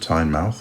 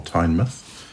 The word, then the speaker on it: Tynemouth: on the outskirts of time mouth or tine myth if you pronounce it properly I'll be with my